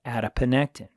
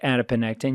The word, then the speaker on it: adiponectin: inflammatory molecules it produces a beneficial molecule called adiponectin and it's spelled just like you know it sounds adipo